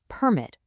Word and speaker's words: permit: Take the word pi t. If I punch up that first syllable, I get permit. That's a noun, right? An official document, like a building permit. But watch this. If I just move that emphasis to the second syllable, it becomes permit.